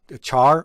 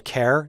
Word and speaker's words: char: Another important data type that I want to discuss is a char or a char, depending on how you pronounce it.